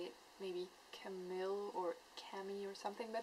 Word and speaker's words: Camille: Maybe Camille or Camille or something, but in French it's Camille, so yeah.